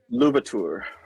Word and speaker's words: Louverture: And then once I got into Louverture, is it how you pronounce Louverture? Louverture. Louverture. Sorry, that's French.